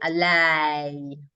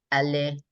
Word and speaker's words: allez: So a lot of people learning these want to say alay, alay. But the French, again, they think of the ENT as silent and they just pronounce it like allez, like that.